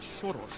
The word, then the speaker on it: Soros: George Soros is actually George Soros. Uhhuh. Yeah. So that's Yeah, that's how we actually pronounce it. Just like a translation Hungarian.